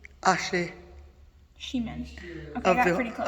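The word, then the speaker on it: Acjachemen: Achihaman. Nation. Pronounced Ashe Shiman.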